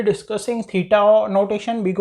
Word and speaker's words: theta: सो नाउ लेट us first of all start by थीटा notation. ठीक है ना, इसको किस तरह से प्रोनाउंस करते हैं?